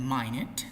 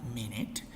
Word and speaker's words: minute: means trapped and then mine it that's the way you pronounce it not minute my head means a